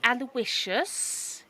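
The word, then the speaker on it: Aloysius: my my name is aloicious he pronounces each syllable individually aloicious you don't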